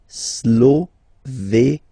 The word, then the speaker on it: Slovénie: Remember, you get this accent aigu here, it's E. Slovénie. Final as usual, not pronounced.